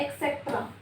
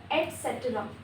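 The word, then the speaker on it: et cetera: उसके बाद है, इसको हम बोलते हैं एक्सेट्रा, एक्सेट्रा नो, एटसेट्रा, एटसेट्रा, एक्स नहीं आएगा, ठीक है।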